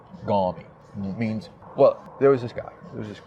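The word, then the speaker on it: gormy: The definitions of these terms, like gawmy. It's spelled G-O-R-M-Y. Gawmy.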